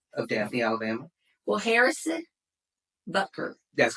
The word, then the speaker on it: Butker: It's not Buckner, it's Butker. Butker. Just like it's spelled, I Butker. thought it was B-U-K-N-E-R.